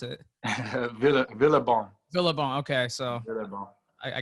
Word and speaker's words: Villebon: How do you pronounce it? Villebon.